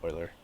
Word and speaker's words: Euler: Euler theorem sorry Euclid Euler note that the EU is pronounced differently in both names so Euclid Euler okay what is mercen prime